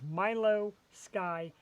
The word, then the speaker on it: Milou Sky: Again, it's Milio Sky.